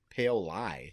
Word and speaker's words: Paoli: Paoli. I thought it was Yeah. Paoli. I refuse to say something. That's how you can tell how much from Iowa. Yeah. Doesn't know how to say Paoli.